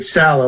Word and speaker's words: Salah: He'll pronounce it Salah like salad, so I'll go with that.